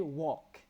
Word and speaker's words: walk: walk itu adalah berjalan cara pronounce walk adalah l-nya enggak usah disebut atau disebut samar aja jadi walk ya l-nya hampir enggak ada so next time Mbak M mbak Mifta mau bilang saya jalan ke pasar ya I walk l-nya engak ada I walk to the